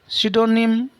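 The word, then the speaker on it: pseudonym: आगे सिडोनिम। सिडोनिम क्या होता है, पी साइलेंट है इसमें।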